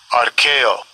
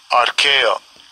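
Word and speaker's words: ἀρκέω: This is that word sufficient in the Strong's G, the pronunciation. Strong's G, 714, Arkeo, Arkeo.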